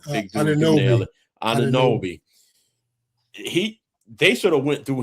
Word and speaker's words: Anunoby: I always say his name wrong. Big dude can nail it. Anunoby.